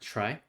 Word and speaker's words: trie: to implement a try it's spelled t-r-i-e but it's pronounced try we want to implement